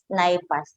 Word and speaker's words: NIPAS: So, ang NIPAS, ang iba, ang pronunciation nila is NIPAS.